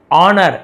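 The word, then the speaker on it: honour: है ना धन एंड ऑनर एस साइलेंट है ऑनर सम्मान से उसे पुरस्कृत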